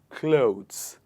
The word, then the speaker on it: clothes: this one the word the sound oh here is pronounced in the same way as the word low l-o-w low high in the same manner we pronounce this sound clothes not clothes it is low sound in this so it becomes clothes next one in the